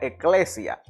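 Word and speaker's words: ἐκκλησία: griego que que que en griego se pronuncia eclesia que básicamente significa asamblea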